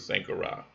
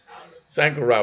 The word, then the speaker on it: Sankara: I believe they pronounce it Sankara.